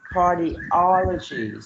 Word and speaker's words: cardiology: So here we have cardiology. So you put the stress pattern on the third syllable, right?